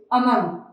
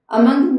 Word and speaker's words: among: ठीक है, then we have to यूज among। देखिए प्रोनाउंसिएशन पे भी ध्यान देना है, ये among नहीं है, अमंग नहीं है, इसको अमंग अंग की साउंड दी जाती है। जब एन और जी सेम सिलेबल में आते हैं तो इनको